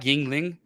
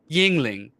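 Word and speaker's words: Yuengling: Jüngling, Yingling, but it's pronounced a little bit different, and it's spelled different.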